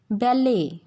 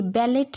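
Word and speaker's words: ballet: French language से जो हमने वर्ड्स अडॉप्ट किए हैं उनमें टी जो होता है वो साइलेंट होता है, एज इट इज़ इन बैले। ये बैलेट नहीं है, बैले डांस होता है ना, बैले।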